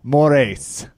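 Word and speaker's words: Moraes: I'm just gonna choose against the Raphael Marlon more ace we're at that pronunciation was perfect you said a scowl right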